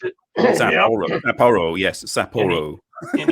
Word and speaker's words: Sapporo: Is that how you pronounce it? Sapporo.